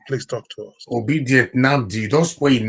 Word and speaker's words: Nnamdi: Not be Unamdi. Like some people want to pronounce Kanu name. Now they'll say Unamdi Kanu. Not be Unamdi Kanu. Namdi Kanu. Namdi.